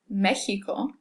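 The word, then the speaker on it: México: But in certain Aztec origin words like Mexico, we can pronounce it like that hard H, or that J sound.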